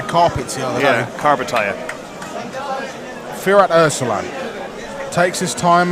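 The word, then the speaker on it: Karpatalya: How would you pronounce it again? Carpatalia. Carpatalia. Yeah. Sorry. I was calling it Carpatalgia earlier, and then carpet this, and I was having a mare.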